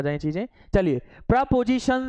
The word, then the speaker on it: preposition: प्रीपोजिशन मत बोलना, क्या बोलेंगे? प्रपोजिशन। प्रपोजिशन, right प्रोनाउंसिएशन इज प्रपोजिशन, ठीक है।